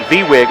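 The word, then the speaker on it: Viehweg: Shelby Viewig, that's V-I-E-H-W-E-G, but Viewig is the pronunciation, wears number 1, a senior at 5'7", starts for Cokeville.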